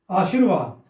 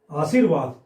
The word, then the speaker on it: आशीर्वाद: इसमें क्या गलती है आशीर्वाद र कहां आ रहा है इसम बीच में आशीर आशीर्वाद स के बाद आ रहा है ना र उच्चारण में और इसका अर्थ भी क्या होता है र ही होता है आशीर्वाद यह जहां